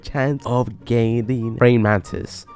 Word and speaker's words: Brain Mantis: Yeah, it's a 4% chance of gaining Brain Mantis. I think I've been pronouncing it this whole time wrong. I've been saying Mantilus.